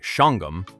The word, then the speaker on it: Shawangunk: The Shawangunk Mountains, locals say Shangum, form a dramatic ridge of white quartz site rising above the Hudson Valley.